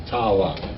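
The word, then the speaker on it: תעלה: How do you pronounce that? Ta'ala.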